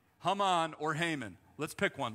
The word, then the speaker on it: Haman: to wreck and ravish his name haman is really close to hamon in in hebrew which literally means confusion so if this guy he's